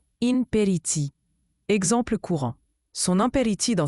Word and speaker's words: impéritie: Imperity se prononce imperity.